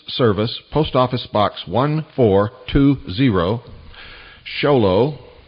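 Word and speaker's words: Show Low: post office box 1420 sholo that's spelled sh o w l Arizona 85901 that's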